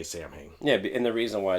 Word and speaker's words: Samhain: so the million dollar question is is it pronounced samhain or saw one uh i i understand that the correct pronunciation is alwan yeah um of course i just i say samhain yeah and the reason why is because if